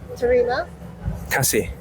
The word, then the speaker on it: terima kasih: Is so terima Terima kasih. kasih. It's 3 syllables plus 2 syllables.